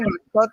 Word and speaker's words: matzot: Matzá en singular y matzot en plural.